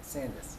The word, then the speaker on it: Sandus: You pronounce it Sandus just like Candace. Okay, Sandus.